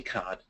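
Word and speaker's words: 卡: So that Chinese character pronounced ka means card, and the standard Chinese term for a loyalty card is a VIP card.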